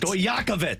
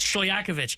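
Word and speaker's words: Stojaković: added, the transfer from Calto Stoyokovich. Is that how you say it? Close enough. Dang it. Stoyakovich. Stoyakovich. Nail it.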